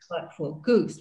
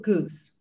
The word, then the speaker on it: GOOS: let's start talking about i never know how you pronounce it for short the global ocean observing system goose we call it goose good and um about